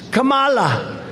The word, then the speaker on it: Kamala: do you pronounce it it's with a comma like a comma right like a comma remember